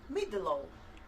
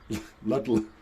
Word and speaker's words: Ludlow: Yes, I thought I should pronounce it K-A-E. And they're I from really- downtown Ludlow in Shropshire. Midlow. Ludlow.